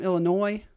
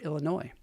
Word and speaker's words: Illinois: I saw some pictures from Illinois.